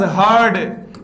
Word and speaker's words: heard: वॉज हर्ड, HEARD आता है, हियर्ड नहीं होता मित्रों। हियर, हर्ड, हर्ड होता है सेकंड और थर्ड फॉर्म। लगभग लोग बोलते हैं इसको हियर, हियर्ड, हियर्ड।